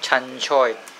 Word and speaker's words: Chan choy: And what's the Cantonese Chan choy. pronunciation for Ceylon spinach? Chan choy.